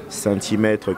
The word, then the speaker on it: Sainthy: Donc, je vous invite tous à me follow sur ma page fan, Centimètre, qui s'écrit S-A-I-N-T-H-Y.